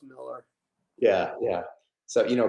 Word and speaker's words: Millar: No, I know, I've said Millar, but it's Millar.